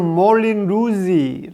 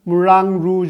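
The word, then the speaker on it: Moulin Rouge: 앉아 있었습니다 빨간 풍차 영어로는 몰린 루의 라는 발음이 겠지만 물랑 루즈 줄 아는 프랑스 이름으로 부르는 게 맞겠죠 2 포스터 들은 그가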